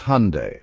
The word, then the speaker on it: Hyundai: Just remember, it's Hyundai, like Sunday or Monday.